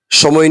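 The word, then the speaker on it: ث: জিহ্বার আগাটা আমরা যে উপরে নিচে দাঁত আছে, উপরে দাঁতের দুইটা দাঁতের আগার সাথে লাগাবো, সামনের দুইটা দাঁত। সা, তাহলেই হরফটি উচ্চারণ হয়ে যাবে। আর নয়তো আমরা সিনের উচ্চারণ করে ফেলবো, সা বলে ফেলবো।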